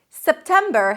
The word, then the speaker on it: September: September has 3 syllables. The first syllable is sep, tem, right? Make sure that you raise your pitch a little bit for the primary stress. Septem, and then ber, a B and an R. Ber, ber.